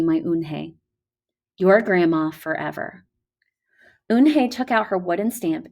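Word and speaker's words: Unhei: turned to joey she nodded slowly yes it's pronounced oon hey and it means grace mr kim added oon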